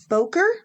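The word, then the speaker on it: Bowker: here today discussing balker Boker sure do you pronounce it I don't say it I probably would say B that's one way to handle it it is spelled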